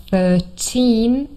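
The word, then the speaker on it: thirteen: bit difficult so Remember 13 here the stress is also on the second syllable not the first but 30 here the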